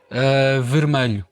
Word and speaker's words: vermelho: Vermelho. Ok, então a pronúncia é mesmo lisboeta, não é? É. Porque em outras zonas acho que dizem vermelho.